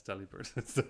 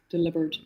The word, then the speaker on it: Delibird: Yeah, it's Delibird. That's weird. There's no way it's delivered.